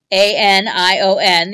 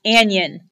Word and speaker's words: anion: pronounced an ion not an Yin because it comes from the anode of an electrochemical cell so an ionic bond